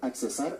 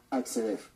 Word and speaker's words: acceder: Ahora que está tan de moda el asunto de la tecnología, no se dice accesar a la cuenta o accesar al correo. Lo correcto es acceder.